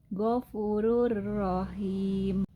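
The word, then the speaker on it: غَفُورٌ رَحِيمٌ: Tanwin bertemu huruf ro maka dibaca tanpa dengung. Jadi dibacanya adalah gfurur rahim.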